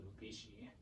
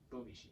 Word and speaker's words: Bubishi: Apparently that's an ancient technique that's found in the Bubishi. Oh, I butchered that. Bubishi, yeah.